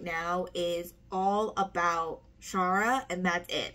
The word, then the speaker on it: Shara: you pronounce the name I thought it was Sarah just spelled uniquely but no it's Shara and I am about